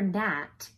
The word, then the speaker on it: gnat: G is for gnat, K is for knight, P is for pterodactyl. What's going on here? Did you know that there are some really wacky words that start with a silent letter?